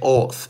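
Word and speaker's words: אות: man the word sign in Hebrew is oath I wanted to say oath and and oath is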